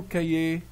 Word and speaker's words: cahier: Monsieur, j'ai oublié mon cahier. J'ai oublié mon cahier. On prononce jamais le H. K-I-E. I-E. K-I-E. Cahier.